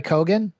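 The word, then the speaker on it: Keoghan: Well, are you you said Barry Kogan? Yeah. Yeah, he's Irish. Yeah, Kogan is how you say that.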